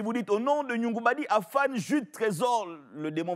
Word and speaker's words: Ngoungoubadi: Autant que vous vous souveniez de comment on prononce mon nom. Nyongubadi, c'est moi, pour ceux qui ne savent pas. Nyongubadi.